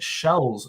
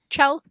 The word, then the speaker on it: Chell: if we can get Shells. Her name is Shell, right? Shells. Chell, I think. Shells. Hard C. Did you just say you think? No. Yeah, hard C. Chell.